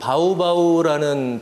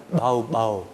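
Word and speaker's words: Baubau: 그래서 이게 상당히 세계적으로 희귀한 어 말소린데 그 예를 들어서 그 바우바우라는 도시는 원래이 지역 사람들은 바우바우 이렇게 안 하고요. 마우바우 이렇게 발음을 합니다.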